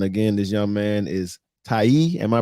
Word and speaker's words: Taye: And again, this young man is Taye. Am I pronouncing that right? Taye? Taye.